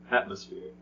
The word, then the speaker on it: atmosphere: be with okay guys next up we have atmosphere how many syllables at three which one is stressed atmosphere mm-hmm that's right the first now we're not going